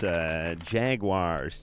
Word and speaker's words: Jaguares: And tonight, we'd like to welcome back to the show, Jaguares. Huh? Yeah. I think I nailed that's Jaguares to you and me. Have a good pronunciation.